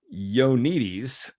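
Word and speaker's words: Ioannidis: upon misinformation in their everyday practice dr john yonitis that's the correct pronunciation dr john yonites has spent his career challenging his peers by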